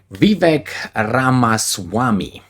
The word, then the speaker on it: Vivek Ramaswamy: And this person is, I have to pronounce his name, Vivek Ramaswamy.